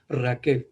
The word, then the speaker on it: Raquel: hermanos que dice aparece rachel en nuestra versión pero por el hacer acento que se mencionaba la semana pasada hermano de su pronunciación correcta correcta es raquel que significa lean hermanos